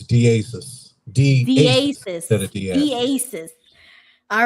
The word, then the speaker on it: Diasiss: How do you pronounce it? Yeah, so it's Diasiss.